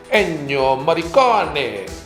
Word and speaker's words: Ennio Morricone: You're supposed to say it in the Italian way, like Ennio Morricone, but Morricone sounds too